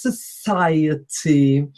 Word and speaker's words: society: sound whilst the one in the middle is society and below it we have something similar association